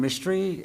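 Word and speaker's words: Mistry: Mystery. I live in Waldorf, Maryland, 2935 Merchant Court. And my name is spelled just like Karen with an H.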